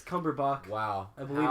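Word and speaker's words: Cumberbatch: fine I know who that is cucumber B cumber bond is also not his name by the way isn't it no it's cumberbach wow I believe it's the correct way to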